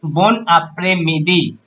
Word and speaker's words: bon après-midi: Second is bon après-midi. We call good afternoon. So bon après-midi. How to pronounce it?